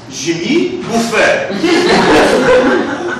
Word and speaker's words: Jimmy Buffet: We were expecting like a guy in a fun Hawaiian shirt or something, you know, Jimmy Buffett. No. It is pronounced Jimmy Buffet.